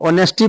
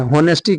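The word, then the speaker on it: honesty: तो तो ऑनेस्टी पढ़ते हैं। होनेस्टी कितने बच्चे होनेस्टी पढ़ देते हैं। तो होनेस्टी होता नहीं है।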